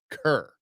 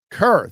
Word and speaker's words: Kerr: It's pronounced Kerr. Kerr, thank you for the $10.